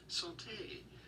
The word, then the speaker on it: santé: I've got an audio pronunciation here. Bonjour. You're looking at how to say cheers. Santé.